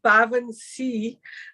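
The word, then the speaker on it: baobhan sith: t h but it's the legendary and it's pronounced bavan C and they're also known as the white woman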